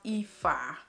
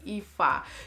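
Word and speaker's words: Aoife: A-O-I-F-E is pronounced Ifa. Would you have thought that that would have been the pronunciation, Ifa?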